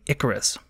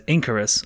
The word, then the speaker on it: Icarus: The best example of this behavior might be when Shaw brought up the documentary Icarus, which he mispronounced as Incarus, of course.